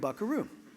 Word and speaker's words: buckaroo: algorithm do it here take that V make it a B take that second syllable stress put on the first syllable instead of vakero you've got something like bakaro which rough it up a little bit make it bakaro say that a couple times and that's where you get bakaroo Right?